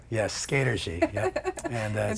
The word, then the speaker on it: Skatergy: Yes, Skatergy.